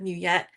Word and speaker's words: Nguyet: Um, I chose many of my clients call me instead of Muette because it's easy to pronounce and it's easy to remember.